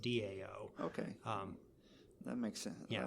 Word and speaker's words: Dao: still pronounced down because the T is pronounced as a D okay I don't know